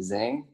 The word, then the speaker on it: Giang: Je m'appelle, mon nom vietnamien c'est Zeng. Zhang, d'accord.